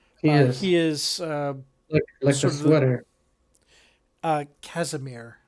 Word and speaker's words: Casimir: he is uh uh Casimir not Cashmere Casimir well if you say